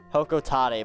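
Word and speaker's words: Hocotate: Hokotate, but I hate that pronunciation so much that I refuse to use it.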